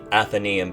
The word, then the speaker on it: Athenaeum: I have been so excited at the response for the Athenaeum campaign so far.